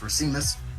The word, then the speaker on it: Racimus: Ninth is Jesse Racimus. Yes, Racimus. You got her. I got it. It's now become a habit saying it correctly.